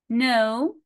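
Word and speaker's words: know: No, ال K silent letter.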